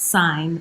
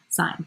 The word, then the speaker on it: sine: ratio sine ratio yes it's pronounced sign like a sign like si GN sine but it is not